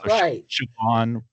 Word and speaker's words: Siobhan: Because you've got the SI is sh because of the S is before the thing. And a BH or an MH are pronounced kind of like a V.